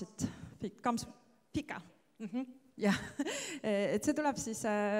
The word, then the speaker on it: fika: Ja minu kõige viimane leid Fika, how do you pronounce it? Fika.